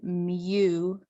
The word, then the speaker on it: mu: And then mu, the M and U, mu is the population mean.